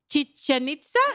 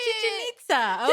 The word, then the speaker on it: Chichen Itza: Chichen Itza? Exactly. Oh, Chichen Itza. Okay. Chichen Itza. I didn't know how to pronounce it, so I was going to put the burden on you.